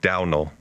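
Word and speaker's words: Domhnall: think this cat and it's pronounced downal downal yeah which I don't know how you get there Donald Gleason my man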